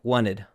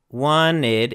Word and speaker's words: wanted: So instead of saying wanted in American English, we usually do not pronounce a t if it comes after an n. So it becomes a very very quick n wanted.